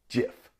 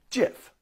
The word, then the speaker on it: GIF: You will hear people pronounce it both ways. But the next time someone calls it a GIF, you can put on your best snob voice and say, excuse me, but I believe it's pronounced GIF.